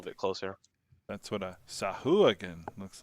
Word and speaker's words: Sahuagin: Mercer pronunciations. Yeah, just that I can just click them. Sahuagin.